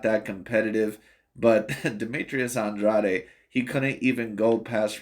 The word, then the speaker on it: Andrade: Andrade fight or Demetrius Andre fight for whichever way you want to pronounce it I'm pronouncing it Andrade because I believe that's how it's pronounced in the Cape Verde uh type of pronunciation but anyway neither here